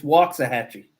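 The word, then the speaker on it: Waxahachie: a bell because it's yeah it's out near waxah hatchee yeah it's waah Hatchy it's wax it's wax it's freaking wax don't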